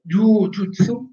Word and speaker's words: jujutsu: Quindi, in judo, jujutsu, la U è lunga.